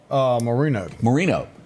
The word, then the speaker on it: Moreno: Moreno, like Dan.